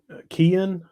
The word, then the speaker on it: Kian: can get it right seeing Cayenne how you say it Curly it's a no it's a Kian see I never get it right and then defensive backs